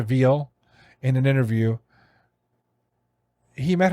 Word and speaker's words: Vigil: So the person that actually got him busted, her name is Cynthia Vigil. She pronounced it Veal in an interview.